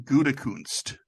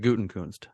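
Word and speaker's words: Gutekunst: answer is Brian goodekunst he pronounces it guten kund's who's he I don't think he does because there's no end there and his father John goodacunst that's how he pronounced it okay it was the Gophers head coach there's not an n in there anyway both teams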